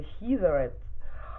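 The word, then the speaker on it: Heatherette: Правильно произносится Хизерет.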